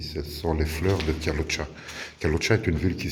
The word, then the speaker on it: Kalocsa: C'est la peinture qui est au mur, c'est la décoration ici, ce sont les fleurs de Kalocha.